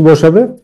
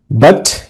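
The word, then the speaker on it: but: Fastest, তাহলে গ্যাপে এখানে কি বসাবে? ফাস্টেস্ট, সবচেয়ে দ্রুতগামী, ফাস্টেস্ট। ওকে, বাট কিন্তু দ্য টর্টয়েস, টর্টয়েস, আচ্ছা এখানে দেখো এই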